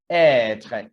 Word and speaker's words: être: You can see this one shows that the pronunciation of E should be prolonged. It is like this, être.